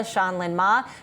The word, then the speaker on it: Shan-Lyn Ma: and CEO of Zola, Shanlin Ma. Melody, take it away. Yeah, Jen, and you pronounced her name correctly. We were debating whether it's Shan or Shan, and it's Shanlin Ma.